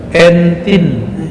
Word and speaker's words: Entin: Entin, bacanya gini ya. Entin.